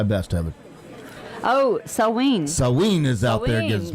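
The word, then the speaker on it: Samhain: Well, it's definitely not Sam Hain, and I was No, saying. it's not Sam Hain. It's pronounced Saween or Sawin.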